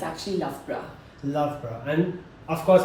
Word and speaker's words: Loughborough: lra lra okay yeah it's very different from what the spelling is yeah so that's why